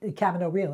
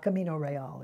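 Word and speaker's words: Camino Real: played Marguerite Gautier for Michael Kahn in in Cavan Oh real and that's the way it's pronounced it's not coming array all it's seeing it's the American camera no real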